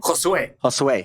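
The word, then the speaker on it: Josué: And, oh, sorry, I mispronounced. How do you say David's last name? Josue.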